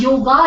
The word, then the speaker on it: yog: of Hindi words now the word actually is yog but then it becomes yoga in English it's R it becomes